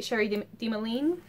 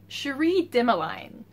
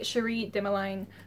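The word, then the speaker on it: Cherie Dimaline: of one of these I just know how her name's pronounced hold on Sheree dimeline neither of my guesses was correct anyway two books by Cherie dimeline um we have uh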